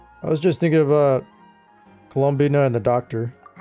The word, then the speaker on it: Colombina: what is the I thought it was Colombina. Colombina. So, I've been pronouncing it wrong. Colombia. You know, you know what I was pronouncing it as? Colombia. Am I wrong? All right. Colombina. Maybe it's pronounced both ways.